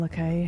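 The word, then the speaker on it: Lakay: It's Le Gras and Le Cay, as far as I know. However you're British you want to and pronounce it, yeah. yeah, I'm British and I pronounce it correctly.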